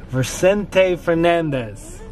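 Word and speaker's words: Vicente Fernández: We're listening to Vicente Fernandez.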